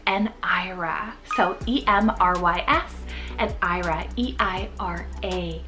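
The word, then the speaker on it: Eira: So E-M-R-Y-S and Ira, E-I-R-A. Now, Ira can also be pronounced as Ira. It's a Welsh name, so I believe you can do either or, but Emrys means immortal and Ira means snow.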